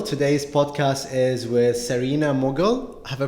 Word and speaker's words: Mughal: Today's podcast is with Sarina Mughal. Have I pronounced it right? Yes, that's Mughal.